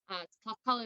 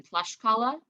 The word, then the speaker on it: Tlaxcala: And the word Tlaxcala, Tlaxcala is how it's pronounced today. The Nahuatl pronunciation would have been Tlaxcala, and that means actually like place of the corn tortilla.